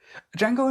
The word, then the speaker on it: Django: the bar where uh django set him and uh he's like oh yeah and he's like my name is django can you spell it he's like d-j-a-n-g-o the d is silent train movement and they